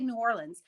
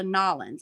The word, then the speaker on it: New Orleans: I say New Orleans. And every time I have an out of towner here, they go Nolans. I was like, no, don't force it.